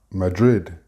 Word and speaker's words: Madrid: In English, the pronunciation is Madrid, and you can hear that both D sounds are pronounced strongly, and particularly the last one.